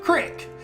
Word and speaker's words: creek: out tunnel if you grew up where i grew up it's pronounced crick yeah go down to the creek oh d and d